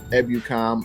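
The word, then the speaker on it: Ebukam: 49ers can release samsung i know his name is pronounced ebucom i just like to say buchum but i think samsung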